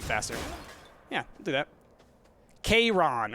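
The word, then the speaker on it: Chiron: Kayron or something like that. It's close to the Latin pronunciation.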